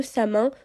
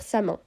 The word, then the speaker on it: Samhain: Sachez que moi, je vais dire Samin. Voilà. J'aime pas trop avoir les accents. Même c'est pas un accent, mais j'ai pas la prononciation. Et moi, j'ai appris en disant Samin, donc ce sera Samin.